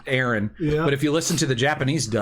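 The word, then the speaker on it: Eren: main character his name aaron but if you listen to the japanese dub they they pronounce it the way that my brother aaron uh pronounces his name and spelled it same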